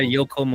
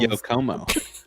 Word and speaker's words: Yokomo: The Yokomo. Yo, Como. Yo, Como, dude. It's yeah. Pretty sure we all say Yokomo. It's one word.